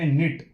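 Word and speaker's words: knit: सी एच भिगोना और 13 number पे निट के साइलेंट रहते इस वर्ड में क्या क्या रहता है साइलेंट रहता है के एन आई टी निट बुनना ओके 14 नंबर प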